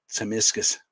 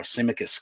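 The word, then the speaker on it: Tsimikas: game the other noiso timiscus or simicus comes in depending on what way you want to pronounce it in the Midfield Flacco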